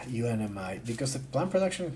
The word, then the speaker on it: UNMI: not even with yumai it's good unmi uh I don't know why I pronounce it yumai now but uh unmi because the plant production